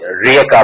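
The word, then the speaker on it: Rijeka: আপনি জানেন যে ওয়েস্টার্ন অনেক ল্যাঙ্গুয়েজে যেটা উচ্চারণ হয় না, যেমন ইউগোস্লাভ ল্যাঙ্গুয়েজে ওই রিয়েকা বলে ওরা, রিজেকা একটা জায়গার নাম আছে রিয়েকা,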